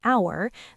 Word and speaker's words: hour: An apple, an hour. The H is silent, so it starts with a vowel sound.